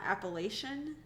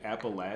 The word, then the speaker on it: Appalachian: kind of like um I learned how to say Appalachian Appalachian it's not appellation really oh they actually say Appalachian Appalachian is how they want you to say it that's how like locals say it interesting that throw Appalachia